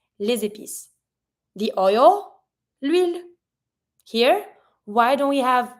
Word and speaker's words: huile: The oil, l'huile. Here, why don't we have le or la? It's because it starts with the H that is mute, so we don't pronounce it.